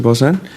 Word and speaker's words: Bosan: My questions are largely for Interact, Mr. Bosan. Did I pronounce that right?